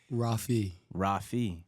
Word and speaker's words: Rafi: Rafi. That's better. That's it. Rafi.